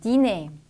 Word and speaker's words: dîner: 단어 끝에 위치하는 R는 발음이 되기도 하고 안 되기도 합니다. 그래서 발음이 되는 경우를 체크해 주면 되겠네요. 1번 dîner, 2번 hiver, 자 발음이 되죠. 답은 나왔고 3번 cahier, 4번 janvier, 5번 étranger, 발음되지 않습니다.